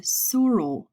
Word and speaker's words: sural: back of the leg rhymes with the cruel we call this the sural region the heel is the